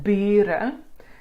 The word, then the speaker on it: bure: This is an open syllable, so it's a long vowel. So you don't need the two U's to make the E.